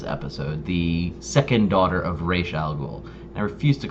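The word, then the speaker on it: Ra's al Ghul: episode where talia algol specifically says it's pronounced reish not raj so it's ray shaggle and it was really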